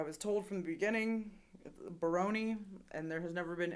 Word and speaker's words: Barone: there was I was told from the beginning Baroni and there has never been any mispronunciation on my part gotcha but he doesn't